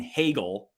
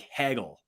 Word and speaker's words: Hagel: it was like I I struggled to say his name the right way because of my Wisconsin accent I so Brandon Hagel I like for some reason I've got like a glitch in my head that that made me always want to say say it like Hegel haggle like I would just I would I would just shorten it and I and like people